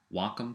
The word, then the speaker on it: Wacom: is you're using a Wacom tablet and uh for those that were confused that is the correct uh pronun pronunciation of it it is Wacom and uh what it